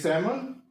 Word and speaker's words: salmon: Next is salmon, that is L silent है, that is salmon. And next word is CUPBOARD. So we have to find out the silent letter.